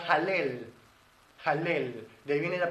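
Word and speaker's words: הלל: es exaltación a Elohim alabanza en hebreo se pronuncia halel halel de ahí viene la palabra Aleluya Aleluya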